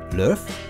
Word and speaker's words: Löf: L umlaut O F, I would pronounce Löf, using that trick of ER for umlaut O, but it's still just a little off.